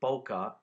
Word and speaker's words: bokeh: going on in the background and that word boca and i'll spell it for you it's b o k e